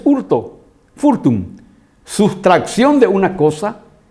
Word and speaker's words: hurto: ahí viene la palabra hurto desapareció la efe y se le puso una h que no tiene h muda que no tienen un sentido y es hurto fortune sustracción de una